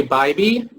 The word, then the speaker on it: Bybee: Okay, and our last person, Jay Bybee. Oh, you pronounced my name absolutely perfectly.